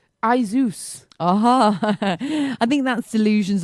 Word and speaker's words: Asus: silly yeah so sorry there's a computer brand called Asus I think we call it a s us basis the computer brand it's actually called a Zeus uh-huh I think that's